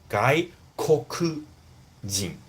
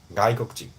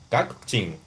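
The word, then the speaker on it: 外国人: If you want to pronounce it clearly, it's like 外国人. But normally, it's adding a little bit daku. It's like add a little bit nasal sound. 外国人. 外国人から, right?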